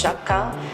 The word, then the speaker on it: Sciacca: or Chaka or I don't know exactly it's pronounced Shaka girl um and the concept is really simple